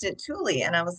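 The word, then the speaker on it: Tule: So I was saying it tulle and then I talked with Jane Porter who's the founder and she pronounced it tulie and I was like, "Wow, I've been pronouncing it wrong this whole time."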